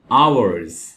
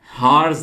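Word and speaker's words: hours: घंटों को और दोस्तों यहां पर आप एच को नहीं पढ़ेंगे क्योंकि यहां पे एच साइलेंट है तो ये वर्ड है आवर्स हार्स नहीं पढ़ना इसको आवर्स और अगर एक घंटे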